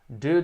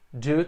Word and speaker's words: due: A pronúncia do do é a mesma pronúncia do verbo fazer, do auxiliar. Do. Ambas têm a mesma pronúncia no inglês americano. Do, do. Due to. São palavras com o mesmo som, homófonas. E no Reino Unido, dependendo do sotaque, eles pronunciam due. Pode ser também, due. Mas em inglês americano, não se preocupe. É exatamente como o do.